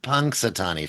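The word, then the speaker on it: Punxsutawney: Punksatani Phil.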